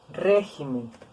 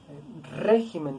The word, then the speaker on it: régimen: la están volviendo esdrújula que sucede con palabras esdrújulas como es pésimo régimen es una palabra esdrújula espécimen régimen también es una palabra esdrújula última penúltima del t penúltima sílaba si decimos este jiménez o regímenes le aumentamos en el silo y qué es lo que sucede que no la volvimos sobre brújula le tenemos que quitar el acento hoja y aquí en